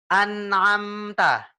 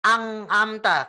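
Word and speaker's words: أنعمت: Idgham dan gitu Gan kalo izhar itu bacanya jelas contohnya an'amta yaan adanya jelas kita bacanya bukan amta kan tapi an amta and jelasinnya jelas nah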